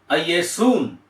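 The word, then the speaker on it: Ἰησοῦν: என்று அதை உச்சரிக்க வேண்டும் அதனுடைய மூல வார்த்தையை நாம் எப்படி உச்சரிக்க வேண்டும் என்றால் ஐயசூன் என்று மூல வார்த்தை வருகிறது ஐஏஎசுன் கிரேக்கத்திலே இந்த ஐஏசூன்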